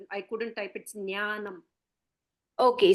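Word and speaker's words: ज्ञानम्: sorry I told you I couldn't type it's ज्ञानम okay so what our teacher said that the pronunciation is ज्ञान ज्ञान right fine से या कैन से ज्ञानम बट आई आई एम not comfortable वि ज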